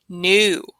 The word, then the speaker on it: knew: So this gets confusing because that K right here, right? So are we saying like, oh, your new shoes? No, that is N-E-W by itself. We're saying like, oh, you knew we were going shoe shopping today. That is K-N-E-W.